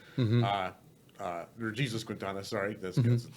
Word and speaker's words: Jesus Quintana: John Turturro takes his character Jesus Quintana, or Jesus Quintana. Sorry, that's how they pronounce it.